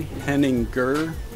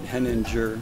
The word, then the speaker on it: Henninger: My dad pronounces it the right, correct German way, Henninger, and my mom pronounces it Henninger. So it's easier for everybody to say Henninger.